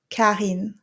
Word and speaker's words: Karine: pronounce my name, well, if I pronounce my name, so it's going to sound like this: Karine, Karine. See, there's no deep R like in Karine, Karine. So you don't have to do that.